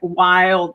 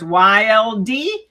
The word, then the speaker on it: YLD: And the license plate on my sports car said Wild Side. So YLD, which people thought, oh, yield sign? Mhm. No. You pronounce the letters YLD. It's wild.